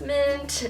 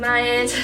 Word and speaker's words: Myant: Also, it is not pronounced mint, it's pronounced Myant, just a side note.